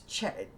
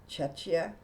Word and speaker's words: Czechia: It's Czechia. Czechia. How embarrassing. I should know how to pronounce that. Czechia.